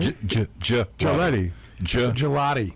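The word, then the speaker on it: Gillotte: But he's got to get his hands up a little bit, and Galati has done a nice job of is that how you say his name? Gelati.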